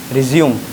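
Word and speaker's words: résumé: इसका 2 प्रोनाउंसिएशन है, एक होता है रिज्यूम, ठीक है ना, रिज्यूम, एक होता है रिज्यूमे, एक क्या होता है रिज्यूमे।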